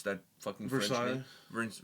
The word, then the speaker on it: Versailles: Do you remember when Ad Infinitum first got together and they did that march on Versailles or whatever how you pronounce that fucking Versailles.